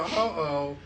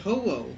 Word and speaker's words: Ho-Oh: And then Right, so they're no longer searching for Ho-Oh.